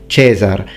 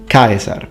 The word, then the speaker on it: Caesar: pronunciation will do that in ecclesiastical pronunciation for example you don't say kaiser you say cesar but the thing is that for the romans kaiser as look in this video points out in this part excellently pronounced the only thing so we need the e longer it's phonemic vowel length is very important in latin kaiser sancta urbis roma